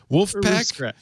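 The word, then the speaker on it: Vulfpeck: okay roof roof scratch wolf pack uh wolf pack wolf pack he's kind of german but i guess german it would be wolfpac because v is but it is not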